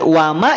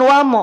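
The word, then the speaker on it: وما: Bunda Elvi bukan w bukan wamallah tapi wama wamallahu wamallahu wama lafad Allah wama lafad Allah wamallahu bukan wamo Awas kenapa bisa jadi wamo karena fokus pada lafaz Allah paham sampai sini bisa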